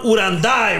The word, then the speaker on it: Uranday: Uranday, right?